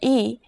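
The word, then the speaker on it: 이: consonant are you ready your first vowel is e e e this is pretty easy right practice writing this character as you say the pronunciation out loud as you say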